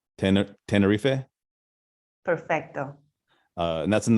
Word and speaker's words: Tenerife: G to try and say it correctly ten Tenerife Perfecto uh and that's in the Canary Islands